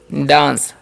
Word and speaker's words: dance: DANCE तो इसे हम पढ़ते हैं डांस, C रहता है तो उसका स होता है, ठीक है।